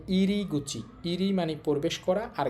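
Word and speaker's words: 入り口: এখানে এটার উচ্চারণ হবে গুচি। তাহলে ইরি গুচি।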